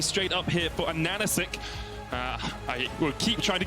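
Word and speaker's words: AHaHaCiK: For those viewers, it's spelled, you see it, it's a Hasasik or whatever, but it's a Nanachek, because the H's, as far as his in-game name, are meant to look like N's.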